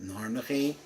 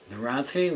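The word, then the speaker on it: נרנחי: I have a chavrusa that pronounces it Narnachi, but Rabbi Memram pronounces it Naranchi.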